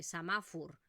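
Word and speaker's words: semàfor: Ostras, Mireia, es que aquí ponía semáforo y han dicho samáfur.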